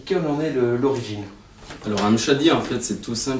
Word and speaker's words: M'Shaddy: C'est bien M. Chadi? M. Chadi, c'est parfait.